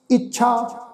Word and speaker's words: इच्छा: काहू, काहू फल की इच्छा नहीं बांछै। इच्छा ऊपर अदक लगा के इच्छा, इच्छा नहीं बांछै।